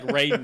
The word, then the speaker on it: Raiden: No, in the movies, they called him Raiden. It's Rodden in Metal Gear. I'm talking about Raiden from Mortal Kombat. It's spelled the same, though, right? Yeah, but pronounced differently.